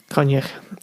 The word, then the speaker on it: Coinneach: Coinneach.